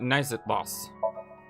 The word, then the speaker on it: Naixatloz: down i was just sitting down uh about nice at loss it's spelled n-a-i-x-a-t-l-o-z should probably write that down too